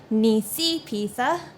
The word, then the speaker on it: Nisipisa: give two apologies one to Niecy pizza I mispronounced her name in the last video its Niecy pizza the next apology I want to give is